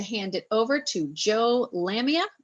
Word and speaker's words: Lamia: it over to Joe Lamia I hope I pronounced your last name right no you did you got it right usually people don't get it right the first time congratulations no hi everybody